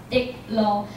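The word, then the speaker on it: 竹鹿: And bamboo and a deer, you can pronounce it in Taiwanese and it calls dik lo.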